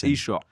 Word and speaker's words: Yeshua: First of all, how do you say the name of Jesus? Yeshua. Yeshua? Yeshua, yeah. Or like, I said Yeshua, the same thing you said.